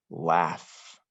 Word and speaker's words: laugh: something in my brain laugh now this is a-u-g-h like caught but it's a completely different sound that's why we have